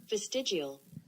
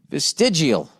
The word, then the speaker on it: vestigial: okay let's look this one up vested geo pronunciation here we go here we go vestigial vestigial oh man you got to work that into